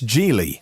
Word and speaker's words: Geely: LEVC, it's the taxi company owned by Geely. Or maybe it's Geely, as I've heard it pronounced lately.